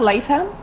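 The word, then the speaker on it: Laetan: Is it pronounced Leitan?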